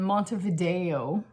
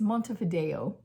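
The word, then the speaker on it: Montevideo: spending one day in Mont Vio last time I was having a hard time pronouncing it it's Monte Fido in Uruguay um not didn't really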